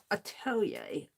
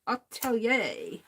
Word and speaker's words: atelier: Well, you know, that French word that I'm still learning how to pronounce. Atelier. Atelier.